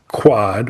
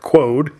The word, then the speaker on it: QUOD: What we're going to talk about tonight, folks, which is quad or as normal people would say, pronounce it as they look at it. Quode should have been extra in there if they were going for that.